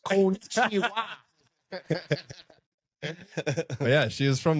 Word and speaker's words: konnichiwa: So it's pronounced konnichiwa.